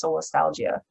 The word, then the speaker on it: solastalgia: So there's this word that I'm going to pronounce it wrong. Solastalgia?